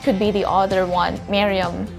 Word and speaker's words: Merriam: be the other one, Merriam. So it's either the short I or the one with the letter E, Miriam or Merriam-Webster's dictionary.